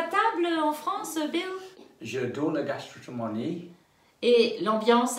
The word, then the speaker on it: j'adore: J'adore la pâtisserie. J'adore la pâtisserie. Pas je adore, mais j'adore J'adore.